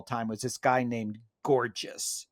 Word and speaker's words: Gorgias: So now these sophists, my favorite sophist of all time was this guy named Gorgias. He's sometimes pronounced Gorgias. That's how it's spelled, but I prefer Gorgias because he was.